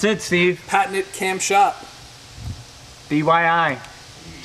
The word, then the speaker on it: DIY: You're saying it wrong, making me say it wrong. You said DYI.